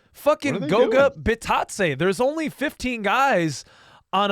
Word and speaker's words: Goga Bitadze: It's fucking Goga Bitadze. There's only 15 guys on a basketball roster. You have to know how to pronounce all of their names.